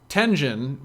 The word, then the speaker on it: Tengen: Tengen, which stands for Tinker Engine, but I just pronounce it Tengen, is the parts of the engine that are specific to a game.